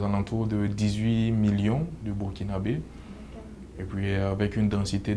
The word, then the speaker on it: Burkinabè: contre le pays est en fait ça se prononce burkinabè donc c disons la combinaison des trois langues